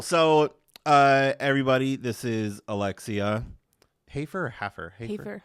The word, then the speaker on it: Hafer: Hafer or Hafer? Hafer. Hafer. Oh, Hafer. Hafer. Alexia Hafer. Hafer, yeah. Alexia Hafer. Like a wafer.